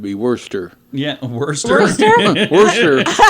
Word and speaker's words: Worcester: Worcester. It's all in the pronunciation, It's Heidi.